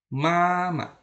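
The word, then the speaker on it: 妈妈: Kemudian mama. Mama. Nah, ini juga dibaca karena tidak ada tanda dibaca nada ringan ya. Mama, masih ingat ya, nada ringan dibaca ringan, cepat dan pendek.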